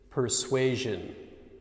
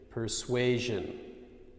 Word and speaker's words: persuasion: So, for instance, vision, vision, occasion, occasion, persuasion, persuasion. Okay, let's try that again.